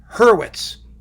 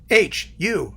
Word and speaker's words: Hurwitz: My last name is Hurwitz. H-U-R-W-I-T-Z. Hurwitz.